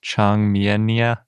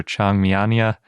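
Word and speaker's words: Changmiania: point out even though it's probably best pronounced chang miyennia or changmianya depending on which part you latinize versus leave chinese i'm probably going to say chiang miania because i'm from wisconsin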